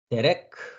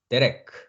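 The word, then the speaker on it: דרך: 그 다음에 레시 밑에 마찬가지로 쇄골이 있습니다. 레시는 리을 발음이었죠. 그러니까 레가 되겠죠. 그 다음에 카프. 피읍 발음이죠. 그래서 데레크 합니다. 데레크. 데레크. 데레크.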